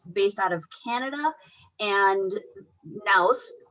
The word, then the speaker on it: Nouse: Nouse is one that is based out of Canada, and Nouse rhymes with, but it's using your nose as the mouse.